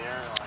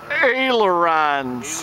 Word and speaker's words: ailerons: It's probably the airlines. Ailerons. Ailerons. I'm going to send you the video link for the pronunciation on that.